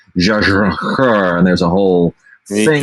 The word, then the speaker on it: Jia Zhangke: I could do the give my shot at the proper Mandarin pronunciation. It's like Jia Zhangke, and there's a whole thing that you do.